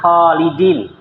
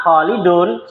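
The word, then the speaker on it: خالدٍ: beliau inginkan di sini Maa kholidin lihat harakatnya kholidin dibaca kas kasr kalau kita bacanya Maa kholidun salah tib yang kedua buri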